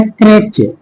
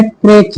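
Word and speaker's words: crèche: क्रेच। बहुत सारे लोग इसका प्रोसिएशन अलग-अलग करते हैं। लेकिन आपको इसको अच्छे से प्रोनाउंस करना है। और वो क्या है? क्रेच। सी आर ई सी एच ई क्रेच।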